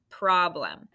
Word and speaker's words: problem: Problem. Can you solve the math problem mentally? Problem. Careful of that schwa.